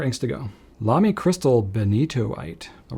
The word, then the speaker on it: Benitoite: Lami Crystal Benitoite. All right, we got a Lami in the house now. Now, truth be told, I definitely pronounced this ink bentoid for a while until I was corrected.